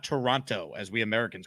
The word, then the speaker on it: Toronto: Also, I just learned that it's not Toronto, as we Americans call it. It's Toronto. Like, there's no second T. So I learned a lot about Canada last night. It's Toronto, not Toronto, which I had no idea.